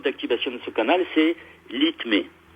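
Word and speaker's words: LITME: Le code d'activation de ce canal, c'est l'ITME. Alors, ça s'écrit L-I-T-M-E. L-I-T-M-E. L'ITME.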